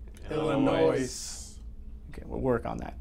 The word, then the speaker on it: Illinois: and the last thing the s is silent on illinois it's illinois say it with me illinois illinois okay we'll work on